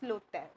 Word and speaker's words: l'hôtel: So pronunciation, this is a merging and we pronouncing like this, l'hôtel, all right.